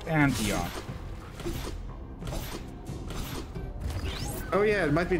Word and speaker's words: Antioch: hand grenade from Oaf Antinok. I pronounced that right. And from Glacier Boy, that foot needs some moisturizing. I'll show him if moisturizing will help. And I believe the pronunciation is Antioch.